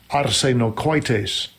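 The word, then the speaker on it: ἀρσενοκοίτης: So here, the word homosexuals is the Greek word arsenokoitos. I believe is how you pronounce it. This is a really cool feature too. You can click here and it'll actually say it. Strong's G 733, arsenokoites. Arsenokoites. Okay, so my Greek accent is off a little bit.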